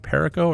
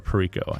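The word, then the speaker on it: Cayo Perico: will buy the coyote is it perico or purico i think either from either pronunciation is fine caioparago kaioprico how preco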